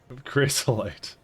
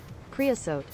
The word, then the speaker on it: creosote: Chrysolite.